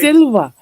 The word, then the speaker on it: Silva: No, that's how you pronounce No. it. It's not a spelling test. It's Silva. No, It's no. Silva. We're the way the Spanish people say it, and the Latin people say it.